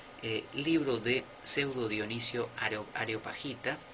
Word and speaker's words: Dionisio Areopagita: libro de pseudo Dionisio areopagita y no es aerop pajita que a mí me ha pasado mil veces de pronunciarlo así por pronunciarlo rápido es areopagita del areópago no del aerópago areópago bueno dos libros